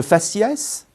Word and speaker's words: faciès: invariables après auprès attention certains mots font exception et se prononcent S c'est le cas de faciès cacatoès palmarès herpès une